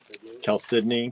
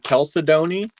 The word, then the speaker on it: chalcedony: Chalcedony. Chalcedony.